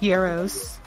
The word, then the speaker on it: gyros: It's not Gyro. pronounced gyro, it's pronounced gyros.